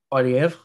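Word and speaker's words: Poilievre: Poiliev. Polyev.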